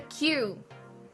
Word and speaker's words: queue: They say a queue is just a queue, followed by 4 silent letters.